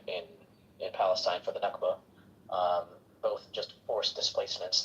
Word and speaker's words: Nakba: happened in uh in in Palestine for the Nakba.